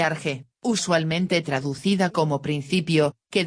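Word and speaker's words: ἀρχή: Centro de irradiación, punto dominante, principio, origen, términos todos con los cuales puede expresarse el sentido de la palabra arche, pronúnciese arge, usualmente traducida como principio,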